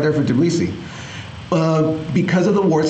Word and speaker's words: Tbilisi: Tbilisi.